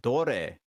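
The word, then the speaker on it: どれ: over there and which which in Japanese are re sorry pronounced so re pronounced a re and Dory pronounced so that's foreign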